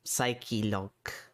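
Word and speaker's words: Psylocke: Psylock, which technically is pronounced psycho, but I hate the word psycholog so bad.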